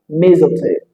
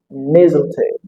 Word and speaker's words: mistletoe: However, there are some speakers that pronounce it with the sound Z, having something like mistletoe, mistletoe. Choose whichever version you find really convenient for you to pronounce.